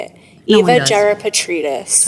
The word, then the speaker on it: Gerapetritis: Gerapetritis.